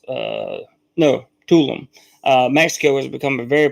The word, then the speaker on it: Tulum: Tulum, Mexico, is actually pronounced Tulum.